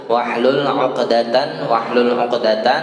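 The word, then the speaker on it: واحلل: Nah, ini haknya hak besar ya, bukan hak kecil. Wahlul uqdatan ya, hilangkanlah kekakuan ya, mil lisani, dari lidah saya.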